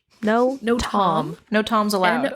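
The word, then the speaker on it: notam: two books notem well you'd think it would be notem but it's no tom no no tom no tom's allowed o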